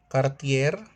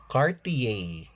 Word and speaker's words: Cartier: Luxer brand pronunciation Versace. No, it's Versace. Hermes. No, it's Hermes Gucci. No, it's Gucci. Cartier. No, it's Cartier.